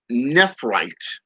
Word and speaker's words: nephrite: the balancing factor the harmonizing factor basically the nephrite is how it's pronounced otherwise known as necromancer's Jade you can